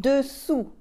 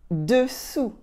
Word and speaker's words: dessous: And dessous, dessous, dessous. As you can notice, the S at the end of dessous is silent, okay?